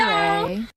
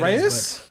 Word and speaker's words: Rae: Ray? That sounds like a white name. It is a white name. What, Reyes? No, Ray.